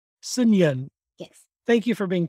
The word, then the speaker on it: Seungyeon: Even for Koreans, it's not easy to pronounce my first name, but it is pronounced as Seungyeon. Seungyeon.